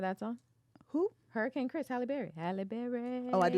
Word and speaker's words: Halle Berry: How do you say Halle Berry? Halle Berry. Like Holly? Absolutely.